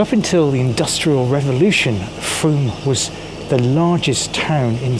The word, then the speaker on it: Frome: It's never pronounced Frome, it's always pronounced Frome.